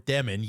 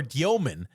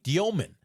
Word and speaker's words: Dёmin: No, not Jagor Demen. Jaor Dyman. That's what he goes by in the NBA. That's his official pronunciation of his last name.